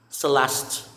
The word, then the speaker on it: Celeste: next it's the last celeste celeste silent letter e this one is simon